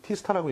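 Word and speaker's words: T*: T코팅, T스타라고 읽죠?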